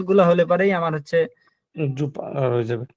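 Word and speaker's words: super: এই যে জুপা, এই জুপা, দেখেন, জি SU, জুপা, আমরা বলি সুপার কিন্তু এটা হচ্ছে জুপা।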